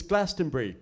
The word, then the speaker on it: Glastonbury: And he said, oh, for crying out loud, it's Glastonbury. It's 3 syllables. It's not that hard.